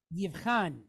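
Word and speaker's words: יבחן: No, because where do we stress a word at? On the end. So it's in a stressed syllable, so you wouldn't make it sound like an O.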